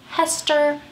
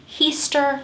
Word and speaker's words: Heaster: quite 100 sure but I'm gonna go with the way it looks and that's he's Elva Zona heester shoe who most often